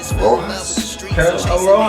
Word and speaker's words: Rojas: Rojas, that's how you speak a little Espanol, right? R-O-J-A-S, that's how you pronounce it, Rojas.